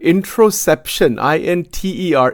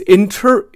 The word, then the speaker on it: interoception: It's a technical word, introception, intercept. I'm not saying it right even. It's interoception, interoception, interoception. That's how it is pronounced.